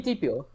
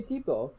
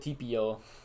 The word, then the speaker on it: tipo: I said chico mi tipo. You said tipio. Did I? Yeah. Chica mi tipo. I meant to say tipo.